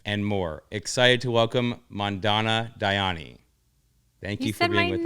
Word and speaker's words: Mandana Dayani: Excited to welcome Mandana Dayani.